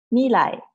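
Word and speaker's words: みらい: Okay, look at the English pronunciation. Okay, that's right. It's called mīlai.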